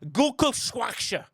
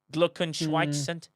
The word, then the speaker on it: Glückwunsch: As STFC Data just said, Gulkelschwaksche. Did I pronounce that right in German? Did I even get close, Quasel? I don't know what you wrote. Glückwunsch.